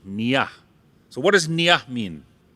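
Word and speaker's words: niya: I want you to repeat after me say Nia yeah now if you spell that n-i-y-a Nia so what does NIA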